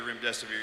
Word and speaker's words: remdesivir: Artis, I love how you told everybody to call it Run Death is Near so they could remember the name.